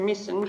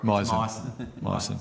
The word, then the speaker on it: Myson: My question is to Mr Misson, but in regard to... Sorry? Myson. Sorry. Rhymes with bison.